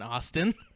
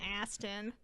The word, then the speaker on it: Astin: did it again Sean Astin is his name and literally the entire episode I called him Shawn Austin I mean I think Austin's better than Astin but that's his name though oh okay well you